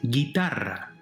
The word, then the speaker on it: guitarra: Well, where's the stress? It's the second to last syllable, right?